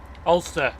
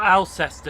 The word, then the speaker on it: Alcester: Ulster. Ulster, yes. Ah. Which is a shame. It's not Alcester, it's Ulster.